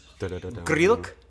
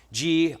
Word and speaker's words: Grilc: You know, the Grillisodes, Grillomentary, but the real pronunciation of your last name is Grilc. One more. Grilc. Marko Grilc. Grilc. Oh, Grilc. I forgot the T. There's a T. It's spelled Grilc. Yeah. But it's pronounced Grrreeltc.